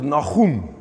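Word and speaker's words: Nahum: Naim in the in the Hebrew the best way while we as Afrikaans people pronounce is Nagem.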